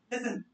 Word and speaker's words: listen: Listen, the word is listen. The T is flat here. T sound pronounce नहीं करेंगे. Listen.